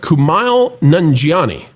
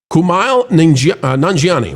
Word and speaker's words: Kumail Nanjiani: I believe it's pronounced Kumail Nanjiani.